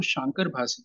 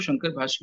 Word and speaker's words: शांकर भाष्य: किया है तो उसको शांकर भाष्य क्यों बोलते हैं? कई लोग शंकर भाष्य भी बोलते हैं, सही उच्चारण है शांकर भाष्य।